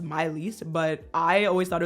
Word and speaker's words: Maelys: It's technically French and pronounced Myiss, but I always thought it was called Mees.